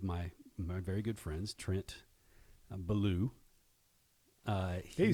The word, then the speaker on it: Bellew: very good friends, Trent Bellew. Hey, you say my name right. Yeah, well, ever since you told me it's about the bear, Right. Bellew the bear, I've kind of remembered it.